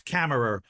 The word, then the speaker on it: Kammerer: The pronunciation of your last name. Oh, it's Kammerer.